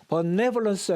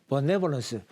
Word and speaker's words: benevolence: 그랬을 때 benevolence 했을 때 이쪽에 강세가 있습니다. benevolence. 그러면 우리말로는 에하고 발음이 되는 거죠. 그러면 강세가 있는 모음은 그 발음대로 발음을 해주면 되는데요. 모음 중에서 강세가 없어요. 모음 중에서 강세가 없어요. 이거 같은 경우는 이 요놈 VOLE 이렇게 모음은 모음인데 강세가 없는 놈들이 있습니다. 요것들은요. 미국식은 그냥 어라고 발음을 해버립니다.